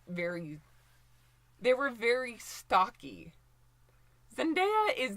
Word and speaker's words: Zendaya: And one more time, it's pronounced Zendaya. Like, A-ya, not Zendaya.